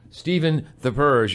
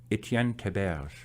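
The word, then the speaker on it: Étienne Théberge: Stephen the Purge is with us, or you can pronounce it properly like this. Etienne Theberge.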